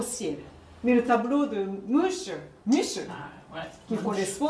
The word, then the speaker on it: Munch: Munch.